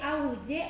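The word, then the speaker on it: aguyje: ¿Se dice ahuye o ahuye? Es ahuy. Ahuy, porque muchas veces se pronuncia mal.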